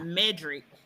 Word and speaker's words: Medrick: I think it's And pronounced Medrick because it looks like okay, Cedric, but with the M.